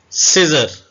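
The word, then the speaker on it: scissors: पढ़ेंगे इसको कंसील पढ़ेंगे तो सी आवाज साइलेंट भी होती है उसको हम देख सिजर अब सिजर में सी साइलेंट है साइलेंट व वर्ड होते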